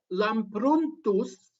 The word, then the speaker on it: Lampruntus: And there we have Emmanuel Lampruntus, and again, it's spelled with a U, P-R-U-N-T, Lampruntus, and Angelum Lampruntum, and De Lampruntis.